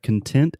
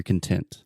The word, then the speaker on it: content: So here, Alexia, we have content as an adjective, which means happy, satisfied, you're content. Content. Yeah. We also have content. We spell this the exact same way, but it's pronounced differently.